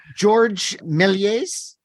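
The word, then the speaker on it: Georges Méliès: George Méliès, is that the right way to pronounce it?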